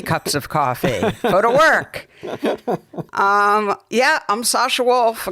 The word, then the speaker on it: PhotoWork: The accent is on the W. Strangely, it was. That's what happens when you have 3 cups of coffee. PhotoWork.